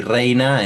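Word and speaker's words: Reyna: de spelling, pero no, se dice reina porque la Y se pronuncia como una I, vamos a decir, en muchas palabras, y en otras oportunidades se pronuncia como una Y.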